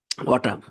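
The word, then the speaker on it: autumn: মনোবিজ্ঞান পড়ে এনতে হচ্ছে অটাম এখানে কিন্তু একটা এন সাইলেন্ট করা হয়েছে দেখেন লাস্টের এন্ড সাইলেন্ট করা এ ইউটি ইউএম অটাম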